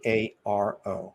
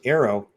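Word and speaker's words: AARO: anomaly resolution office A a o now first Arrow it's good all right let's face it you know it's the only way to pronounce it it's not AO it's got the air in there all domain that means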